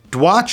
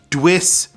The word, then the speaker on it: Dwiss: Dwiss is D-Watch, but I think it is actually pronounced Dwiss.